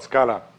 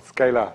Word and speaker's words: Scala: And the language is called Scala, or Scala in the American pronunciation.